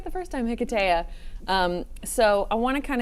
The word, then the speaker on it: Hiketeia: Hiketeia. I said it right the first time. Hiketeia.